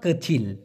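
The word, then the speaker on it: kecil: বোন বলতেছে কাচি অর্থাৎ কচিল এখানে একটা জিনিস আপনাদেরকে আমি দেখাই মূলত কই সি আই এল এটাই হচ্ছে সঠিক উচ্চারণ তবে এটাকে অনেকে বলে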